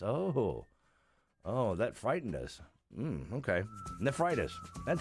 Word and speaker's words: nephritis: Nephritis.